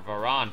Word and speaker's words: Varan: In the Showa series, there was a solo Mothra film, there was a solo Varan or Varan film, however you want to pronounce it.